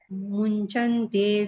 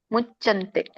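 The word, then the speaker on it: मुच्यन्ते: ಕೃಷ್ಣ ಮಾತಾಜಿ ಯಜ್ಞಶಿಷ್ಟಾಸಿನಸ್ವಂತೋ ಮುಂಚಂತೆ ಸರ್ವಕಿಲ್ವಿಷೈ ಮುಂಚಂತೆಲ್ಲ ಮುಚ್ಚಂತೆ ಮುಂದೆ ಇಂತಿಲ್ಲ ಅನುಸ್ವರ ಚ ಮುಂದೆ ಇದೆ ಮುಚ್ಚಂತೆ ಸರ್ವ ಕಿಲ್ವಿಷೈಹಿ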